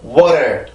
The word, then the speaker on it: water: 그래서 water, water, water 이렇게 내려와야지 water, water 이렇게 세게 치고 내려오면 순수한 T 발음이 되는 거고 가볍게 쳐주면 이 플랩 사운드 즉 T의 약화 현상이 되는 거예요.